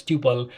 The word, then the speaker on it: tuple: next one is a topple uh Tuple I my apologies if I'm not pronouncing it right that's how I pronounce it but if it is pronounced as tupal feel free to do that so let's do the